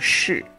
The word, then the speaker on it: 是: nói hả, chữ 是 phát âm là sh y ngắn không cong lưỡi phần đuôi, là cái giọng miền Nam. Còn miền Bắc là SH y ngắn R, là từ sợ, giọng miền Bắc.